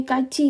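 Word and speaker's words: 같이: paling terkenal itu adalah Kaci Kaci ini Kaci kan k ini kan seharusnya kalau kita baca kan Kati ya Kati tapi karena aturan bacim maka ini t dirubah menjadi Ci Oke bacanya jadi Kaci midati Nah kalau kita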